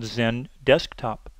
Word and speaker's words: XenDesktop: Now, all of their products that start with an X actually are pronounced with the letter Z in front. The second main track is the Desktop Virtualization track called XenDesktop.